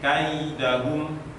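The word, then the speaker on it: كيدهم: Alam yaj'al kaidahum. Cara pengucapannya itu ya betul-betul harus i, tetap ai. Kalau wawu ya berarti harus au, betul-betul u. Jangan ai atau au, itu bukan. Salah seperti itu membunyikan.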